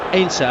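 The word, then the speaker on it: Heinze: you're wondering about uh the pronunciation of his name it was a subject of considerable debate uh before the game as to precisely what he should be known as obviously a German extraction H would be his name but in Argentina they call him Ana and they don't really pronounce the h and that's straight from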